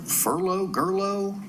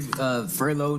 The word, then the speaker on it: Furlow: Gerlo? Come on up. Tell me how to pronounce your name. Last name Furlow, Furlow. Oh, Furlow, okay. It's pronounced L.R. Furlow.